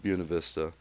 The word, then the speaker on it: Buena Vista: you know mountain towns Buena Vista specifically pronounced Buena Vista I know there's a